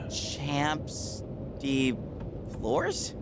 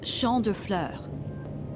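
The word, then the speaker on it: Champs de Fleurs: Champs de floors? How do you say that? It's champ de fleurs.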